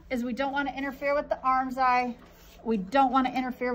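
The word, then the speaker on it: armscye: eye are gonna intersect does anybody know why they call it an arm's eye i don't know either and it's spelled really stupid so it's spelled arm psy like a scythe that you cut wheat with yeah so a r m s c y e arms psi arms eye weird now we're going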